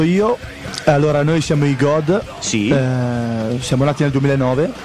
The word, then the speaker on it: G.O.D.: tanti sinceramente Tra l'altro non è God ma è g o di sì si scrive come fosse un acronimo Quindi con i puntini Però si pronuncia God In ogni caso Ok